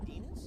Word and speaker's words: Demas: And she came up with the name Sadie Demas? Yeah, which it rhymes with penis.